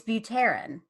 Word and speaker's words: Buterin: I said I pronounced your last name wrong. It's Buterin.